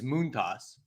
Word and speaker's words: Montas: were happy about Frankie Monas in this household second off I think it came out the other day that he actually said he prefers it or the actual pronunciation is moont toss so oh really I